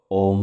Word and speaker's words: ওম: ওম শব্দটিকে আপনারা 3টি ভাগে ভেঙে নিন। ও, অ আর ম। ও, অ আর ম। ও এর উচ্চারণ নাভি থেকে, অ এর উচ্চারণ গলা থেকে, ম এর উচ্চারণ মাথা থেকে।